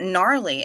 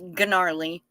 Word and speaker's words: gnarly: is good how about gnarly as in shingles are gnarly yeah I think it's spelled with a G but uh is garly but um yeah shingles are